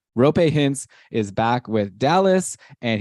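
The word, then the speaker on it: Roope Hintz: one more algeri uh rupay hints I should say it properly rope hints is back with Dallas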